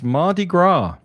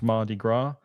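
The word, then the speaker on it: Mardi Gras: It's Mardigra in New Orleans. You don't pronounce the S on that. It's Mardigra and fat cheese day.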